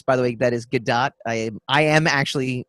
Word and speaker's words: Gadot: By the way, that is Gadot. I am actually pronouncing her name correctly to all you haters out there. Yeah. No, just saying. I've heard it pronounced Godot.